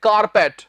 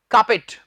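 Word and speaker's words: carpet: क्या है सीए आरपीईटी बहुत से स्टूडेंट्स से बोल देते हैं कारपेट जी ए कारपेट नहीं होता इसका उच्चारण है का पेस्ट ने फिर से बोल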